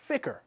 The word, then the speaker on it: FCR: The MCC's focal point is the Flight Control Room, or FCR, pronounced FICR.